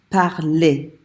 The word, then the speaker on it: parlé: And it's pronounced parler. If there's not an accent on an E, you do not pronounce it.